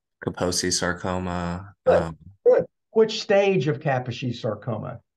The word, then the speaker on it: Kaposi: I think every single one of their words is emphasis, the accents on the first syllable. So that's why you call it Kaposi or Kaposi sarcoma.